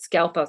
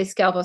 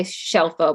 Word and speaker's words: Scelfo: My last name's Italian, and my grandmother wanted to assimilate many years ago, and we started mispronouncing it Scelfo. So sometimes I say Scelfo, sometimes I say Scelfo, but anything, it's fine.